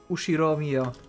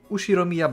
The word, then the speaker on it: Ushiromiya: is my family name ushiromia that's a fairly plausible I think Japanese pronunciation so far the problem is my